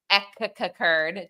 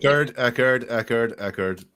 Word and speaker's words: Echard: Echard, Jack. Echard. The pronunciation.